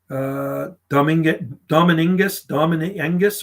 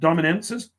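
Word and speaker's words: domingensis: Dominengus or something.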